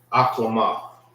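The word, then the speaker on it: אחלמה: Aklama.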